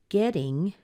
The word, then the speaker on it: getting: in an unstressed syllable so remember what happens when we use a T and an uncertain the beginning of an unstressed syllable it's usually soft so it's very similar to that D sound so we get ding so we have getting